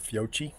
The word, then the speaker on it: Fiocchi: were hella consistent with Fiocchi. Or those who pronounce it Fiocchi.